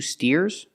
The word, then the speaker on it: steer: let's practice what are these are these two steers that's right these are two steers and what